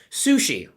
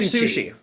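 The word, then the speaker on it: Suchý: free to say no sushi vladimir sushi su sushi like the one i had yesterday right uh yeah sushi close but no cigar nice try so vladimir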